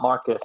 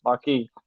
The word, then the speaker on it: Marquis: He's like, it's not Marcus. It's not Marcus. It's Marquis.